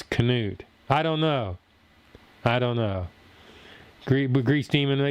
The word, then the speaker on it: Canute: Canute. I got it. YouTube's over here teaching me how to pronounce Canute. Yeah, you're right. Still look like nut to me. Canut. Canute.